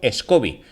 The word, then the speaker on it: SCOBY: que se conocen como escoby o scoby podéis pronunciarlo como queráis en traducido bien Si